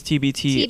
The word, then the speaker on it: TBT*: times also known as tbt astric i think right am i pronouncing that is the asterix silent yes the asterisk is silent okay excellent brook we'd